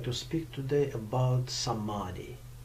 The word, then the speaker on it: samadhi: to speak today about samadhi or samathi like a different way it's a different way of uh pronouncing this word yeah but before i'm